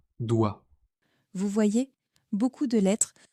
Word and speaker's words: doigt: Prenons trois mots simples. Tant, beaucoup, doigt. Regardez toutes ces lettres mais écoutez la prononciation. Tant beaucoup, doit.